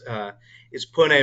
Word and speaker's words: Pune: The pronunciation is Pune, Maharashtra, but you did pretty good, Leah.